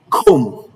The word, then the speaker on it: comb: The B in all of these words are not pronounced.